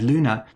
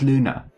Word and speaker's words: Glüna: commenting about my pronunciation her name is written riuna in Katakana so I'm leaving the G silent for now in any case Luna